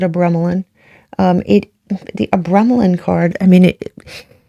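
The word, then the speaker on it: Abramelin: You have here the card of Abremelin, or it's pronounced all different types of ways. I pronounce it Abremelin.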